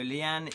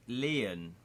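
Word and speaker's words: Lian: So Leanne is part of our thieving gang. And we could have gone with him. 238. No, it's not Leanne, it's Leon. L-I-A-N, Leon. That's how you pronounce that, I'm assuming.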